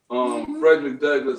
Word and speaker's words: Frederick Douglass: Bonte, you went to a school that's a historic school in Atlanta, Frederick Douglass High.